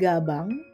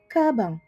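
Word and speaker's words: 가방: kabang yang artinya tas ini bacanya bukan gabang Tapi bacanya kabang loh sem kok bacanya kabang bukannya gabang karena orang Korea itu kan lidahnya agak cadel ya di bagian gnya gitu jadi ketika berbicara antara bunyi G dan bunyi k itu ada di tengah-tengah gitu kalau lidah Orang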